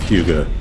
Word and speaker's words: Hugo: By the way, I'm using the Swedish pronunciation of Hugo.